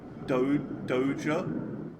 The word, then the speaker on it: Doja: Although, yeah, actually looking at it now, it's probably Doja. It's probably that. Because it's like... Because the way it's spelt. If it was Dodger, it would be like Dodja.